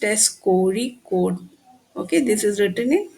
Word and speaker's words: Kozhikode: It is pronounced as Kozhikode.